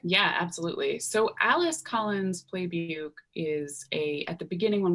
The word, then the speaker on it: Plebuc: pronounced Playbuke. Plebuc.